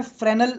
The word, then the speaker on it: Fresnel: एक होता है FRESNEL डिफ्रैक्शन, इसके अंदर S इज साइलेंट, तो इसे बोलते हैं फ्रेनल डिफ्रैक्शन.